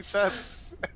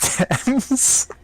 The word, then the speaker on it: Thames: and an E, and it's like it looks like it should be Thames. Like, look, It's just like I've the- lived in the UK all my life and I know it's pronounced Thames.